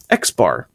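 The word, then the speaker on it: x̄: The mean is an X with just a little line over it. It's a little bar. And that's actually pronounced X bar. X bar equals the sum of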